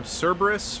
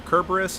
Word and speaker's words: Cerberus: you haven't read laura olympus uh hate uh cerberus or kerberos however you want to pronounce it is utterly adorable in that comic